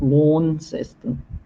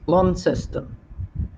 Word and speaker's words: Launceston: in Queensland for a long time or they pronounced at Launceston it's not worn system that's long system oh yeah we can get 35 degree heat